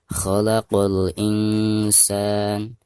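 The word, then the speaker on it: خلق الإنسان: Baik, perhatikan khalaqul alif lam di sini dihukumi alif lam qamariyah karena ada alif lam berhadapan dengan huruf qamariyah. Maka alif lamnya itu harus dizohirkan atau dijelaskan ya karena ada tanda sukun di atasnya seperti ini.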